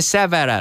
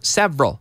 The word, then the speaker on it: several: 2 syllables, several. We don't say several, no, several.